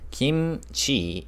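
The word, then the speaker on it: 김치: Kimchi, pronounced kimchi in Korean, contains 4 distinct sounds.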